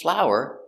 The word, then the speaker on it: flour: And I use flour to make bread. Pronunciation is the same.